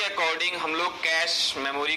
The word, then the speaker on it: cache: ठीक है, चलिए चलते हैं और देखते हैं अपने सिलेबस के अकॉर्डिंग हम लोग कैश मेमोरी को और कैसे समझ सकते हैं। Okay, so कैश memory, the कैश memory pronounced as कैश, इट is nearest to द सीपीयू, so also called CPU memory.